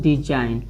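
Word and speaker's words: design: जैसे देखिए डिजाइन, इसको क्या बोलना है, डिजाइन, यानी यन से पहले आया जी हमें ई का हो जाएगा, साइलेंट हो जाएगा, यानी डिजाइन, यानी इसको जी को साइलेंट रखना है।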